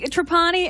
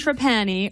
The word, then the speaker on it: Trapani: Let's be Trapani and Trapani are both perfectly acceptable. I happen to say Trapani, but Trapani's okay.